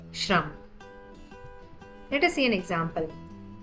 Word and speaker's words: shram: The sound of shra is pronounced as shra like the shra in the word shram.